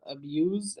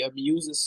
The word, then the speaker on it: abuse: So if I'm talking about abuse, as in somebody abuses somebody, it says the sound. But If you use it as a verb, it is abuse. okay, If you abuse as a verb. it's abuse.